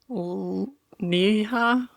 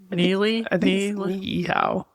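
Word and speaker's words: Niʻihau: So you have to break out the E sound right here in the middle.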